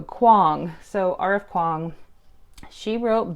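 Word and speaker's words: Kuang: stuck with me because she said like King Kong but with a W so Quang so RF Quang she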